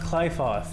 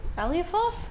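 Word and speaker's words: Qliphoth: It's pronounced Clyfoth. What were we calling it? Aliafoth?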